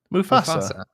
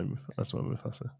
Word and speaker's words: Mufasa: Do I say it wrong? Mufasa. How do you say it? Mufasa. Yeah, I feel like that sounds right. I feel like you might